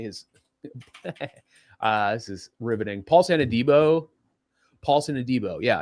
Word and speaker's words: Paulson Adebo: Paulson Adebo.